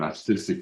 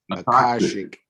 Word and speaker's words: Akashic: I had this lady read my, I'm going to mispronounce it again, Artistic Records. And she told me, I say it again, I'm going to get this right one day, Tori. Akashic. She read my Akashic Records.